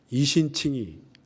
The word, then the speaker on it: 이신칭의: 로마서어 이렇게 하면 네 글자가 되는데 이신칭이 아시죠? 이신칭의 이신칭이라고 발음하는데요.